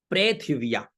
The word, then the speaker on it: पृथिव्या: अब आगे देखिए, पृथिव्या, पा में नीचे रे की मात्रा, तो उच्चारण क्या हुआ? प्रे। थी, था में छोटी ई की मात्रा, तो प्रे थी। और आधा व उरिया, उच्चारण क्या हुआ? पृथिव्या, पृथिव्या।